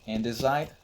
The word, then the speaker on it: andesite: Or for example, andesite, the correct way of pronouncing is andesite according to the dictionary, I guess.